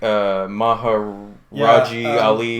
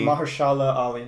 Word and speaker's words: Mahershala Ali: And then I don't know how to pronounce the other gentleman's name. Oh, man. It's like Maharaji Ali. Mahershala Ali.